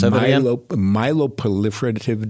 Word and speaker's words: myeloproliferative: It's called it's a myeloproliferative disorder. That's a lot of syllables. Myeloproliferative disorder. So, myeloproliferative? That's correct. Like prolific? Yes.